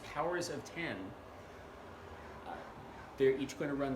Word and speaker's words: Powers of X: comic whose title who looks like it's powers of X but this apparently pronounced powers of ten they're each going to